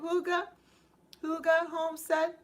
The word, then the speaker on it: Huga Homestead: Did I pronounce it right? Huga Homestead? Huga Homestead, yes.